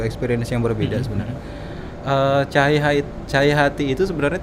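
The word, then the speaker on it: Tjahaja: cahaya hati itu sebenarnya tulisannya enggak cahaya jadi Teja Haja Oh tempo dulu nih tulisan-tulisan tempo dulu jadi e ejaan yang dulu yang belum disempurnakan itu tejah haaj hati kalau dibacanya sekarang tuh cahayaahay jadi ini bukan pengin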